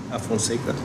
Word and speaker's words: Alfonseca: how do you say the last name? Afonseca. Alfonseca makes an application for